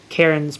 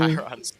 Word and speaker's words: Chiron: Karen's boat is sitting Chiron's not Karen. It's definitely not Karen.